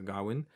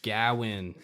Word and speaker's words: Gawain: darwin and then um i think the uh the brits say uh gowin it's it's depends on the region but um yeah you know and they get the other characters here in america we say gowin yeah i mean like